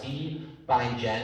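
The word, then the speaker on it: cbindgen: So the two main approaches to get Rust code piled into C++ are C bindgen, I believe is how it's pronounced, and what that does,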